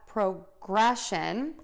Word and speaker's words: progression: And I think also people get really confused because of the spelling, and we are going to end this word in shun.